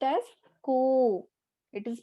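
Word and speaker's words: こ: It is pronounced as ko.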